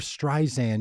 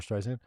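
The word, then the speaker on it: Streisand: would they say Barbara strian I I hadn't been pronouncing the D I think in my mind I was spelling strian with no D yeah I it's interesting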